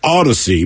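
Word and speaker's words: Audacy: app name and spelling it's Odyssey but if you're literate you'll spell it wrong so it's a-u-d-a-c-y a-u-d-a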